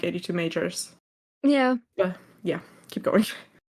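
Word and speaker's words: 82MAJOR: Let's only go back a bit in time for 2023 with Even and 82 Major. Or as we love to call them, 82 Majors.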